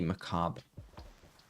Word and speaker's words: macabre: because I have no clue but it's apparently macabre I forgot what it means I'm so happy